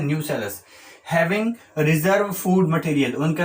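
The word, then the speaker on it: nucellus: ये न्यूक्लियस नहीं है, ध्यान से समझ लीजिए, स्पेलिंग भी ढंग से देखना। These are नॉट न्यूक्लियस, these are न्यूसेलस।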